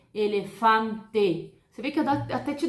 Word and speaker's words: elefante: Se eu tenho a palavra elefante, eu não vou falar elefante, porque o brasileiro, né, para falar italiano e espanhol, o brasileiro tem mania de colocar o som de I no final. Isso não acontece, gente, nessas línguas latinas, tá? No italiano, no espanhol, você tem que pronunciar de forma correta. Se é E no final, você vai falar esse E, elefante.